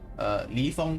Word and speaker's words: Li Feng: Like if it's people like Li Feng, for example, is pronounced as Li. You have to go up a bit your inflection. Feng, as in you have to go a normal inflection after that.